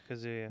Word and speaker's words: Kazuya: How do I pronounce this? Kazuma, is it? Kazuya? Kazuya? Kazuya? Kazuya.